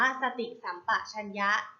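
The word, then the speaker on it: สติสัมปชัญญะ: คำ ว่า สติ สัมปชัญญะ สติ สัมปชัญญะ อ่าน ว่า สติ สัมปชัญญะ สติ สัมปชัญญะ ประกอบ ไป ด้วย สอเสือ เตา สระ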